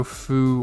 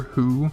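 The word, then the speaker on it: ふ: spelled it's weird it's i think technically you can spell it with an f or an h so foo or who if you're going to hard say it but it's kind of like f and h put together so it's weird but uh yeah so you can say foo or who when you spell it but it's the same thing and then ha mount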